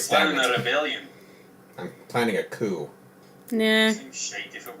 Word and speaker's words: coup: I'm planning a coup. Nah. Seems shite if it were. Coup has a nice ring to it. That's French. It also rhymes with dew, which we don't get in the desert.